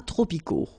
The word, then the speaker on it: tropicaux: Final X, not pronounced.